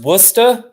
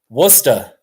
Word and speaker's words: Worcester: there you go okay all right it's it's pronounced Worcester Worcester that's how you say with your British accent